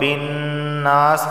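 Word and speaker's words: النَّاسِ: کر پڑھا جائے گا۔ برب الناس نون پر تشدید ہے، غنہ ہوگا۔ جب بھی نون پر تشدید آئے تو وہاں غنہ ہوتا ہے۔ برب الناس، ٹھیک ہے۔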